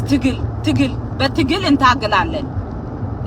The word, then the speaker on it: Tigle: And don't be calling me Tigis. That's not my goddamn name. My name is Tigil, but Tigil in Tagalaland.